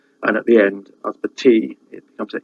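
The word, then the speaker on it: ysbyty: Mostly at the start of a word, a Y is a sound, as in Usbati, which means hospital, and at the end, Usbati, it becomes an E sound.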